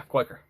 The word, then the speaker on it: Quaker: Yeah, Quaker.